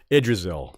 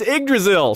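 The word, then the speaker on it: Yggdrasil: Uh, from the Ragnarok episode, a lot of y'all had fun uh watching me fail to pronounce Idrrisil. Idrasil. It's Ddrasil.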